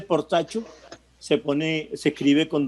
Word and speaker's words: Portacio: del apellido por tasio ese apellido por tasio lógicamente es italiano se dice por tacho se pone se escribe